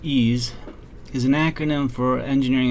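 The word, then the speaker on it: EES: e which is pronounced ease is an acronym for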